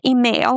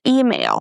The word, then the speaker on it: email: So it's not email. We don't stress mail. We stress E, the first sound, email.